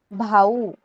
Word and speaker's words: भाऊ: Okay, brother, brother भाई कहते हैं हम हिंदी में, त्याला मराठीत आपण म्हणायचं भाऊ. ओके, ब्रदर को हम कहते हैं भाऊ.